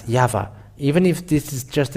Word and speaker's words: Yahvah: So it is up to you to think when the Hebrew, when it is read in the Hebrew, the Yod, Hey, Vav, Hey is pronounced as Yahvah.